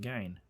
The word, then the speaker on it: Gein: is actually about Ed Gein. Or Ed Gein, depending on how you know his last name being pronounced.